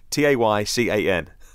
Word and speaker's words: Taycan: According to Reuters, Porsche claimed the Taycan, rhymes with bacon.